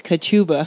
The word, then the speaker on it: Kachuba: Kachuba, John, how are you? I'm fine, Karen. Thank you. I love how you say your last name. Say it like a sneeze, Kachuba.